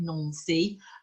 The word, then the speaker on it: Nancy: big in N SE looks like Nancy pronounce it nony which is the capital of Lorraine so we're going right